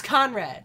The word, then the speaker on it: Conrad: It was Conrad. Conrad. Conrad! Yeah. What do we keep saying, Connor? Connor, yeah.